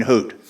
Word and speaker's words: Hoot: that we were training couldn't say hoot so it was hoot it was Hut so uh and I'm